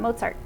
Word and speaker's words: Mozart: and they're reading it most people say mozart wrong they do that right and they now know it's Mozart like pizza and Mozart you know and the